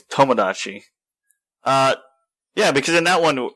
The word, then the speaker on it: Tomodachi: Yeah, it's not Tamagotchi. It's Tomodachi.